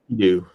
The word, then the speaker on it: Enkidu: to, check out Caleb's stuff here, he has Enkidu. Am I saying it right? I just want to make sure I'm saying your name. Enkidu.